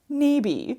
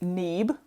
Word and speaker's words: Nabe: nabe while we're here a note about my last name no one ever pronounces it correctly on the first try and I really do not care it doesn't follow English grammar rules so why would they mostly we get neeb following that good old